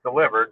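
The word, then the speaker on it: DLIVRD: it's a delivery nav it's called delivered it's it's spelled just like that it's pronounced delivered but it's spelled d-l-i-v-r-d which one I'm picking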